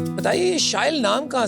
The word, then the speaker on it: Shyle: So as you just said, it rhymes with style.